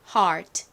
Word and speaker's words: heart: 것 같아서 넣어봤습니다 자 여기서는 무슨 소리로 쓰였냐면 ear이 얼 소리가 아니라 R 소리로 쓰였어요 자 그러면 앞뒤와 연결을 해보면 h는 히읗 소리가 나죠 그러니까 히읗 소리와 R 소리가 합쳐지니까 her이 됐죠 그리고 끝에 티가 왔습니다 t는 티읕 소리 소리가 나죠 읽어보면 heart 여러분 익숙하지 않으신가요 보통 한국식으로는